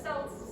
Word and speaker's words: Celts: They were called Keltoi by the Greeks, which is why I'm pronouncing it Celts.